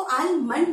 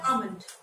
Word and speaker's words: almond: इज इट आलमंड? जी नहीं, इसको आलमंड नहीं बोलते और ना ही इसको एलमंड बोलते, इसे बोलते हैं आमंड। आमंड, आ मन। एल जो है ये इसमें साइलेंट होता है.